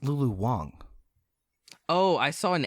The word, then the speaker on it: Lulu Wang: Real quick though, I think it's actually pronounced Lulu Wang. Oh, I saw an A. It is an A, but I think they pronounced It's it pronounced Wong.